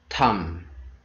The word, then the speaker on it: thumb: b rule number one b is not pronounced after m at the end of your word and rule number two